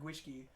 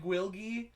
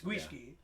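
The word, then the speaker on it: Gwyllgi: You know, I love saying the word Gwishki. Because it's not spelled like Gwishki. It's Gwylgi. Yeah. It looks like it said Gwilgi, but it's Gwishki.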